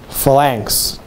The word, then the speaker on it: phalanx: Phalanx. Phalanx. Phalanx. Phalanx. Change the accent to the first syllable, please.